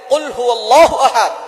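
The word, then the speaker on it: قُلْ هُوَ اللَّهُ أَحَدٌ: আল্লাহ পাক রাব্বুল আলামন এখানে বলছেন কুলহু আল্লাহু আহাদ। এখানে কফ দিয়ে পড়ছেন কিন্তু অনেকেই ভুল করে উচ্চারণ সঠিক না হওয়ার কারণে তারা পড়ে কাফ দিয়ে।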